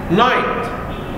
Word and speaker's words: night: Night. Also we have G and H are silent letters.